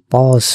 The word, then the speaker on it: পজ: পাকে তখন আমরা একটু পোজ করে দেই এর উচ্চারণ পজ নয় এর উচ্চারণ পোজ